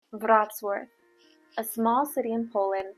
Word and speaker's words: Wrocław: Also, this city is normally often mispronounced by those who come there. They call it Wrocław, but the correct name is Wrocław.